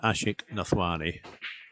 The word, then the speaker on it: Ashik Nathwani: Or find Ashik Nathwani. It's spelled exactly how it sounds.